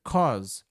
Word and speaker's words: cause: Cancer, nota a pronúncia, cause. A u fica com som de o cancer and birth defects.